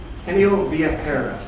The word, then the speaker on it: Genio Viajero: Okay, Sophia, how do you pronounce the name of the company? Is it Genio Viajero. Genio Viajero?